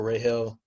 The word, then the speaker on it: Rahel: So I don't want you to think like for Rahel. Am I saying that right? Rahel? I hate mispronouncing names. Rahel. Rahel? Okay. No, yeah, right in hell, Rahel.